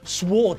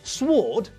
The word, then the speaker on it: sword: and here's the thing it's a silent w we don't pronounce the w when we say the word it's not a sward fish it's a swordfish